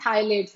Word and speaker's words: phthalates: सो वहां पे रखने की वजह से सारा थाइलेट्स, सो थाइलेट्स की spelling is पी थाइलेट्स, like PTHY, बट उसको P silent, we call it थाइलेट्स.